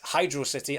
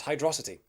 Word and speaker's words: Hydrocity: a member of the correct club if you pronounce it hydrocity and not hydrocity but that's a debate for another day okay